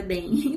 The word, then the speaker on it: Den: Ah, que o nome dele não pronuncia Jean. Uma amiga minha falou que pesquisou no Google e ela viu que o nome dele pronuncia Dem.